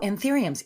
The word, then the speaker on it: anthurium: Anth Anthuriums? Oh, anthuriums.